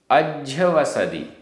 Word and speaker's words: अज्झवसदि: अज्झवसदि आधा ज झ, अज्झवसदि, अज्झवसदि।